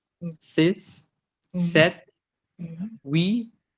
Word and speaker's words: huit: huit, With the T is huit. there, the H is silent.